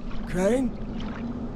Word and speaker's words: Crane: no my name's crane crane crane rhymes with train and brain and S and Grain and rain and plane and the other kind of plane and and but can